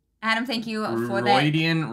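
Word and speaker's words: Rhuidean: Roidian rhymes with Freudian.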